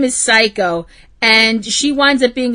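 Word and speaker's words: Saeko: You gotta put the E in there, because otherwise it sounds like you're saying psycho. No, psycho. As in psycho killer. No, Psycho. Psycho.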